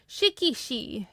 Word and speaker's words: Shikishi: Shikishi. Yes, that's what it is. Shikishi. I think it's Shikishi, but the way I hear Japanese speakers pronounce it is shikishi.